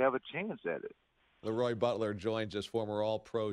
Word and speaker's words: LeRoy: Hey, I guess I'm saying Leroy instead of LeRoy. And LeRoy's mom took exception to that, and we still laugh about it. So when people ask me, how do you say your name, they're almost scared and wait for the answer. I say, it's LeRoy.